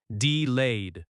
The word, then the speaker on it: delayed: Delayed has stress on the second syllable, delayed.